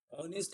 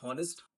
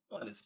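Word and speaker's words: honest: तो ऑनेस्ट इसका प्रोनाउंसिएशन होता है, नॉट हॉनेस्ट, ऑनेस्ट।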